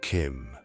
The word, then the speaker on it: CHIM: Chim, pronounced Kim, is one of the most misunderstood ideas in Elder Scrolls law and perhaps the most profound.